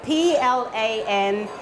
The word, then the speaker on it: plantain: One final thing I did actually want to say is plantain spelt Plantain, and it's pronounced plantain. It's a bit like the word Britain.